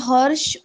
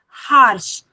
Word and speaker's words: harsh: लेकिन यहाँ पर जब आप इसको उच्चारण कर रहे हैं तो से इट एज हार्श. हा उच्चारण होगा, हार्श.